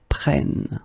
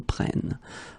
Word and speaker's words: prennent: Okay, keep in mind that you should pronounce it prenons, vous prenez, and then the last one, the tricky one, ils prennent. Okay, ils prennent.